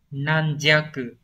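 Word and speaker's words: 軟弱: Từ này đọc là nan jaku.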